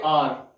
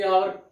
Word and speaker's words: hour: हॉर्स, और इसका जो इसे हम पढ़ेंगे आर, यानी कि आवर काफी लोग पढ़ते हैं लेकिन इसे हम आर पढ़ते हैं, तो इसका उच्चारण वोकल